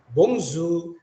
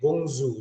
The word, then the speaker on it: bonjour: ini kalau diterjemahkan adalah bomzu itu Hello ya Jadi bukan bacanya Bonjour ya tapi bungsu seperti ini j nya itu seperti mengucapkan huruf z jadi airnya konsonan di belakang tidak terbaca Bapak Ibu artinya Hello